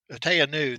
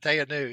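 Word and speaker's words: Te Anau: is it t anau how do you pronounce that tanu that's that's what okay T that's what I call it t new so that's the Arkansas version of it that's the Arkansas version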